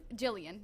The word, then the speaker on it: Gillian: Okay, so Gillian Oliver says, "I love Jillian. Jillian, there we go.